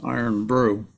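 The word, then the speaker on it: IRN-BRU: I'm sorry, I'm looking at chat, and Matt had brought up the IRNBRU, which turns out to be a soda, pronounced iron brew.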